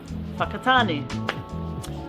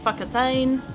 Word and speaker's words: Whakatāne: For example, whakatāne, not whakatain, whakatānei, wakatain, whakatāni, whakatāne.